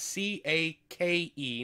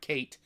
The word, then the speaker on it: Cake: mile follows cake Donaldson that's c-a-k-e not Kate cake Donaldson uh Diane Connie or